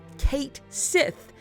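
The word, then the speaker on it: Cait Sith: is spoken and that's it's like a Celtic word it's a whole like that's what he's based on and then like in English they made some post and they were like It's pronounced Kate Sith and then a bunch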